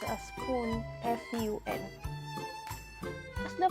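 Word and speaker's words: ふん: p-u-n and the rest are pronounced a spoon f-u-n as the pronunciation are the same the mean is from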